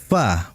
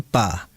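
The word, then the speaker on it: ف: Sehingga dia harus dibaca fa bukan pa. Itu yang harus diperhatikan. Kemudian jika bilamana belum ada terdengar udara ya yang keluar dari pengucapan fa itu karena masih salah dalam pengucapan. Sehingga di antara benarnya pengucapan fa sesuai dengan makhraj tempatnya adalah adanya udara yang keluar.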